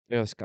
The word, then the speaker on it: Io Sky: Io Sky.